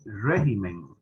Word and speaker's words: régimen: clases de español ok regímenes tiene el acento en préstamos en plural verdad y tiene el acento la de atrás pero cuando pasa a singular la tibia se brincan para atrás entonces en singular se dice régimen pero aquí régimen correcto